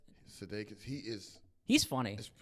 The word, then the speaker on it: Sudeikis: Sudeikis. Sudeikis.